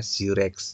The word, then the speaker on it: ZYRX: Hari ini saya membahas ZYRX atau saya bacanya Zirex ya.